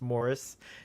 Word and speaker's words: Maurice: Morris like or more I say Maurice but it's Morris is the correct pronunciation and it's a beautiful